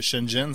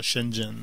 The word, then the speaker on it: Shenzhen: En passant, Alex, Internet fait dire que Shenzhen, ça se prononce comme ça, Shenzhen.